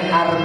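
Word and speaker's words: Hermès: salah berarti gak tah masih pakai barang KW bacanya arm bukanm arm itu bahas loh Kok bahasanya tulis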